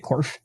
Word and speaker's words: Corff: So we have Jeremy Corff, and if am I pronouncing that correctly? Is it Corff or is it? No, that's right. It's very simple to pronounce, just like it's spelled.